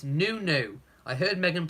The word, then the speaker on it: Nonoo: You're saying it's Nonoo. I heard Meghan pronounce it this way. Yes, I was trying to remember how she pronounced it. It is Nonoo, isn't it? Not Nonoo.